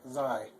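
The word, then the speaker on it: sei: S sounds like a Z. When two vowels go walking there in E, the second one is long, so it's Zai.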